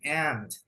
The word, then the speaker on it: aunt: Jadi punya nggak usah dibaca, bukan aunt gitu bukan ya, tapi aunt. That's it. Lo bro sama dong kayak semut gitu. Nah semut, semut tapi tulisannya ANT gini ya. Nah, saya tulis di atas nih, semut. Sama dong bro cara bacanya ya, cara bacanya sama.